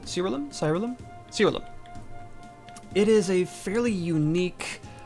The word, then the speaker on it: Siralim: Today we're taking a look at an RPG that goes by the name of Siralim, I believe is how you pronounce it. Siralim.